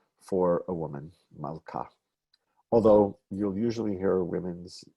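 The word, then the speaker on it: מלכה: the name pronounced as mauka there's a whole history to wive is that personal names often violate that rule that the second syllable gets the stress I could do it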